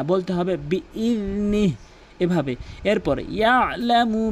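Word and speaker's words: بإذنه: অধিকাংশ লোক বলে বিইজনি। বিইজনি বলা যাবে না, বলতে হবে বিইযনি, এভাবে।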